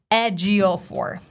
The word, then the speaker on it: Ejiofor: So instead of stressing the very first part of his last name and saying Ejiofor, he actually says, "Hi, I'm Chiwetel Ejiofor."